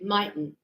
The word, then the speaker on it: mightn't: But native speakers, we do not say might not. We say mightn't. Yeah, we shorten it, we abbreviate. To say, oh, she mightn't know. So that's how we pronounce it, mightn't.